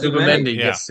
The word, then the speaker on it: Zubimendi: How do you pronounce it? Zubimendi. Yeah. Yes, Zubimendi.